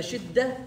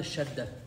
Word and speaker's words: شدة: No, shidda is like a shadda, right? Pronounced twice. شدة, not a shadda. We studied that quality. Yeah. And we spoke about it. Shadda is different. Shadda is different. It has two letters. Shidda with the kasra, it's a quality.